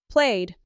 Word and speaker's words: played: Worked, played, visited. Worked ends with a soft T. Played ends with a soft D.